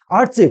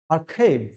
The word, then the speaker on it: archive: আর্চিভ, কিন্তু আর্চিভ নয়। সঠিক উচ্চারণটা কি হবে? দেখো, আর্কাইভ। কি হবে? আর্কাইভ, আর্কাইভ।